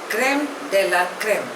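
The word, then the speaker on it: crème de la crème: commissioner by the central government next word is क्रेम डेला क्रेम spelling is सी आर ई एम ई डी ई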